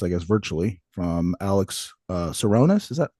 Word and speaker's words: Tsironis: Latest guest here, sitting across, I guess, virtually from Alex TSIRONIS. Is that how you pronounce it? That is, yeah, TSIRONIS, a good Greek last name, correct?